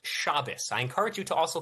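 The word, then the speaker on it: Shabbos: Also, it's it's pronounced shabus. I encourage you to also keep it. President Trump just issued a proclamation encouraing Americans to keep Shabbat.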